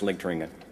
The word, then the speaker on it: Ligteringen: consider to be a genuine international treasure, Ligteringen. And good afternoon, and Dirk, thank you. The pronunciation of my name is perfect.